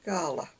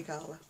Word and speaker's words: Gala: And it is called Gala, or Gala, whichever you pronounced it, but I say Gala.